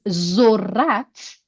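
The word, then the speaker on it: ذرت: So Lezzat means joy, And zorat, another word starting with zal. Do you see zal? Yeah. Corn. Plus Yeah. short vowel of o and re and te. Zorat.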